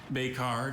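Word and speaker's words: becard: The French sound of that word makes you want to put an E at the end.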